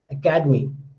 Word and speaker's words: academy: So academy, ca is stress, but academic, da is stress.